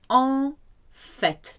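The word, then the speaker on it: en fait: fact in French is all fat two words all fat it's an exception because you hear the T at the end unfit here we have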